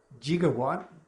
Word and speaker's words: gigawatt: One, gigawatt, that actually is an acceptable pronunciation of gigawatt.